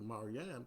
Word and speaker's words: Maryam: But you know the story, what happened after Maryam came, let me pronounce that correctly, Maryam came, her son, Isa, Jesus, Isa ibn Maryam,